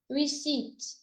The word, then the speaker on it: receipt: So the P sound, the P is silent in receipt.